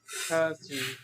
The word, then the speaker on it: thirty: she great and then you also mispronounced the sound in 30. let's work on that Thirty Thirty Thirty Thirty excellent